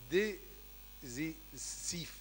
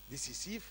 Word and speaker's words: décisif: repentir est un éloignement desif d'accord décisif c'est comme ça on prononce décisif décisif décisif du péché il B